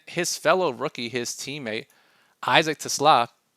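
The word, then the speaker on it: TeSlaa: And then his fellow rookie, his teammate Isaac Tla, which is how you pronounce it apparently because he's Dutch.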